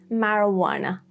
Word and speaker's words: marijuana: J is so unique that it's barely unpronounced. The only example as far as I could find is marijuana. Or Americans may say marijuana.